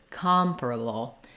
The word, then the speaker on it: comparable: of that stress pattern the second a in able is also a schwa and then the BL ending it's a syllabic l so I'm just moving quickly from the to the UL sound bull comparable a bull so that I can